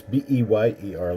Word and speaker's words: Beyer: Eric Beyer? But it's B-E-Y-E-R, like Bayer. Like, It's Beyer. but like the aspirin. But it's not spelled quite the same. It is spelled the original German way.